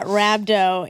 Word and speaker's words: rhabdo: Yeah, rhabdo.